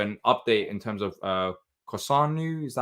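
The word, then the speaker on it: Kossounou: And also an update in terms of Kosanu. Is that how you pronounce it, Patrick?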